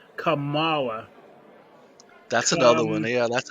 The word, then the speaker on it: Kamala: from some little friends it's not pamela it's not kamala it's not camella it's kamala kamala harris well senator says she's used to people mispronouncing her name but says it's easy to remember just combine comma with law except you dropped